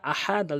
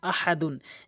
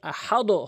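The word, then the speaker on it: أحد: হামজা জবর আ হা জবর হা আহা দাল দুই পেশ দুন আহাদুন। এখানে হালকের মাঝখান থেকে চাপ দিয়ে উচ্চারণ করবেন। আর ওয়াকফ করলে আহাদে হবে। আহাদও হবে না। আহাদে হবে।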